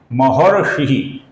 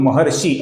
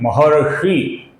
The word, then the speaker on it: महर्षि: है इसका कुछ लोग महर्षि ऐसा गलत उच्चारण करते हैं। इसका सही उच्चारण है महर्षि महर्षि और ये ह्रस्व है दोस्तों ये शी ह्रस्व है इसका हमें लघु उच्चारण करना होता है।